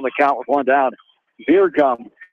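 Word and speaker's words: Bjergum: Beer gum. B J E R G U M. Beer gum. It's pronounced the freshman runner first base for the minutes for strike two.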